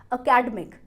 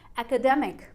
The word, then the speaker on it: academic: अब इस वर्ड को बहुत सारे लोग गलत प्रोनाउंस करते हैं एज अकेडमिक, अकेडमिक, पर इस वर्ड की सही प्रोनाउंसिएशन है एकेडमिक, एकेडमिक।